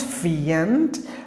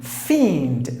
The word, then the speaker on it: fiend: next word is famed not fient like these two letters put together pronounced like the e the Nidal a like v like II fiend meaning an evil person